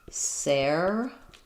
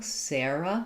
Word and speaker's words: Sarah: Most US speakers will say Sarah uh with the air dip thong Sarah Sarah. Um and it can also be pron spelled this way. But any individual person named Sarah, you should ask them